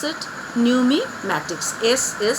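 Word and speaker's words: numismatics: here the study of coin is known as new me Mattox so how you pronounce it new me Mattox is this silent here okay so after that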